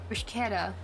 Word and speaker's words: bruschetta: Bruschetta. Yeah, okay, so it's like a slurred K. Like, right, because chemistry.